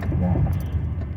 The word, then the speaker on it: Vos: So So that would be a man named Robin Voss, rhymes with boss, has said that DEI, which in most places, including Fresno, stands for diversity, equity, and inclusion.